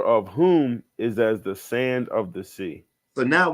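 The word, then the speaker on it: Sayce: all right archal and I I believe you pronounce his name sa s a y c e okay um I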